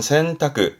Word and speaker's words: 洗濯: 발음은 센타크. 센타크에서 세탁의 탁자다 보시면 되겠네요.